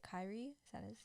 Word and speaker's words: Kyrie: Kyrie? Is that his? Kyrie, yeah.